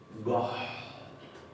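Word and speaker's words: gott: Goht con doble T. Goht.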